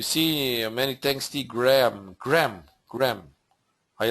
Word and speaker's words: Graham: many tsty Graham Graham Graham I like the name Graham we call it Graham but actually it's it's pronounced grham but yeah gram thank